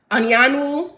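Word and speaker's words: Anyanwu: seed set the tone Anan Wu that's how y'all pronounce her name if you didn't know Anan Wu andoro are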